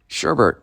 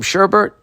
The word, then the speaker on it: sherbet: have i been saying that wrong my whole life sherbert maybe i just wanted it to rhyme sherbert ice cream oh my god there's not another in it am i saying it